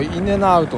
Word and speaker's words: In-N-Out: これでイン &トと読むそうなんですけども、こっちの人の読みではどっちかというとインネアウトみたいな発音ですね。